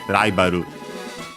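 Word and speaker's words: ライバル: Japanese R usually pronounced as a tap flap, so Ru, Ra, like in our case, Raibaru.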